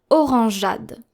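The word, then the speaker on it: orangeade: So the soft g and then the e is silent and then the a.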